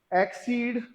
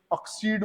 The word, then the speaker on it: accede: अब ऐसा भी नहीं है कि कुछ लोग इसको जबरदस्ती ऑक्सीड बोल देते हैं, ऐसे बोंगलों की बातों में मत आना। दोनों का प्रोनाउंसिएशन एक्सीड ही है, ये ऑक्सीड वगैरह नहीं है।